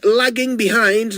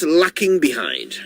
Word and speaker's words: lagging behind: so there you go it's lagging behind not lacking behind that is how you say it right yep that's how to say it lagging behind not lacking